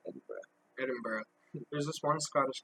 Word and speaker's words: Edinburgh: It's spelled Edinburgh, but it's Scottish, so we say it Edinburgh.